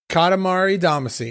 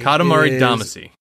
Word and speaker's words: Katamari Damacy: Katamari Damacy. Katamari Damacy.